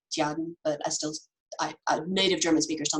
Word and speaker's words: Tjaden: Even though I can mostly speak German, I have never been able to pronounce the T and the J at the same time. That's one of those things you have to learn when you're little. It's basically like Jaden, but native German speakers